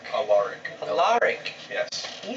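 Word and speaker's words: Alaric: Was it Alur? Allaric. Allaric. Yes. Can you spell that?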